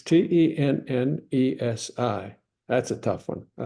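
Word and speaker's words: tenge: I wasn't in Turkmenistan, but Tennessee. That's the way you're pronouncing it, just like the state. Sounds like the state. Tennessee, Tennessee. Tennessee. Well, you're close. It's Tennesi.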